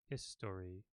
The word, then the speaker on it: history: We don't normally pronounce that O. History. We say history. History. So it's often pronounced like this. History. Because that vowel, it shortens.